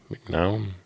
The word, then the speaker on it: McNown: Is that how you pronounce his name? McNown? Yep. That's how you pronounce his name. Yep.